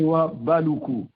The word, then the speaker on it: Houabaloukou: C'est Ouabalakou. Comme excusez-moi, désolé. On n'est pas Ouabalakou, effectivement. Vous avez parfaitement raison. Je corrige, mais désolé. Effectivement, Adrien Ouabalakou, je pense que là j'ai réussi à bien prononcer votre nom.